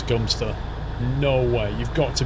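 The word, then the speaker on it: Godmanchester: came back from trick first no ways that pronounce gum stir no way you've got to be kidding no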